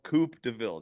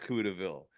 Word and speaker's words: Coupe DeVille: song you have a song called Coupe DeVille not cou DeVille all right and it's